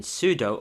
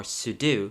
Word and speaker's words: sudo: the last two commands i've been typing in sudo or sudo depending on how you want to pronounce it and that stands for super user do because in linux sometimes